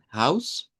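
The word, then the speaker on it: Haus: Recuerden que esa H sí suena. Es la H que suena en alemán y diríamos la S house y eso sí se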